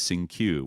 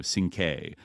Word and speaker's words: Cinque: the name Sing-Q, but it was mispronounced as Sing-Q, where it should be, Sing-K.